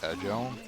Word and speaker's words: Egil: First of all, it's pronounced Egil.